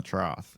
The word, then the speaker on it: trough: to watch it and they followed it down the trough. It was like a little maze of trough. Trough pronounced like an F spelled with a gh, not a throth.